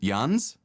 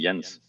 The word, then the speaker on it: Jens: So the typical American version is Jens, which obviously is also wrong. Jans, I don't hear so much. So the correct version is actually Jens. Jens.